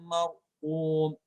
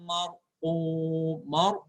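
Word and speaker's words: مرقوم: Kaf, dia keluar udaranya. Ko, dia di dalam udaranya. Ko. Kitabum marqum. Bukan marqum. Kalau kum, marqum dia kaf.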